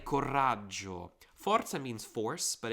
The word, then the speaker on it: coraggio: Coraggio. I think it has 2 R's. Forgive me if not. Coraggio. I pronounce it like that, so I pronounce it with 2 R's.